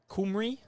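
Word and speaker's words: Cymru: first end so Wales with the Welsh pronunciation of the country on the back of their shirts there kumry I'm told by our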